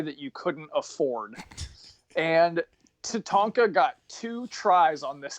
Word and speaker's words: Tatanka: is our Native American Tatanka and the host goes good to meet you to Tonko he pronounced his name wrong the entire show so I was wondering